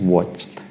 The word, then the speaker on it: watched: Demikian pula dengan watch, karena berakhiran dengan ch ya, ch ya, maka Anda ucapkan untuk past simple-nya menjadi watched.